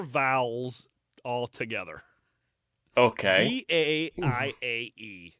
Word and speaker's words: Baiae: B-A-I-A-E. It's Baiae. B what? B-A-I-A-E. Just like what you call your girlfriend. Bay.